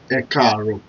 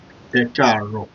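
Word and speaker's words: Ẹ kàárọ̀: e r o so you have to pronounce that e it's car so it's going to sound like this e Caro e Caro that is good morning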